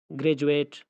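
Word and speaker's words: graduate: کے بعد گریجویشن، گریجویٹ، تو گریجویٹ میں آپ دیکھ سکتے ہیں کہ ڈی کے بعد یو آیا ہوا ہے اور یہاں پہ ڈی ہے، ڈی کو ہم جیم کے تلفظ کے ساتھ ادا کرتے ہیں۔ اسی طرح سولجر، سولجر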